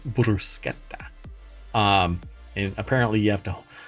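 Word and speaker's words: bruschetta: interaction because they were they corrected how to pronounce brushetta as brusa um and apparently you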